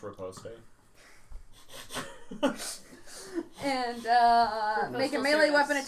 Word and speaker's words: riposte: It's pronounced riposte.